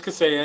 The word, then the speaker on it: Kaseya: It is Kaseya, and you're saying it perfectly fine. Okay.